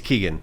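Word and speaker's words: Keoghan: name Phil Keegan uh kogan how I I I never get his last name right it's Keegan I think he he pronounces it Keegan looks like it's kogan host The Amazing Race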